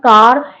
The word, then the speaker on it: car: have seen earlier that if there is R at the end of the word, it is silent. CAR, not car, it's car.